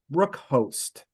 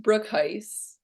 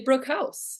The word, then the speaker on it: Broekhuis: including our guest Brook host am I saying that correct no but that's okay it's actually pronounced Brook Heist Brook Heist or if you're Dutch you can say brook house so all sorts of